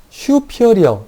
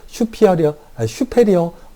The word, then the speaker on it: superior: 읽을 때는 슈피어리어라고 읽는데요. 우리가 막 읽을 때 이래요. 안테리어, 포스테리어, 슈페리어, 임페리어, 이렇게 읽기도 하는데, 조금 더 이 영어 원문에 가깝게 읽으면 그렇습니다. 외국인들이 발음하듯이 읽으면 슈피어리어, 인피어리어, 안테리어, 포스티어리어 이렇게 얘기하기도 하는데요.